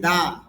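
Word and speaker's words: the: ইন দা competition, এখানে আবার বলতেছি দা, কেন? এখানে টিএইসির পরে যে সাউন্ডটা আছে এটা হলো কনসোনেন্ট সাউন্ড। সি স্বর মতো হচ্ছে, কর মতো হচ্ছে, এটা হলো কনসোনেন্ট সাউন্ড, এই জন্য দা উচ্চারণ হবে। এখানে হবে দি, দি ইভেন্ট, এখানে হবে দা কম্পিটিশন, এখানে দি, এখানে দা।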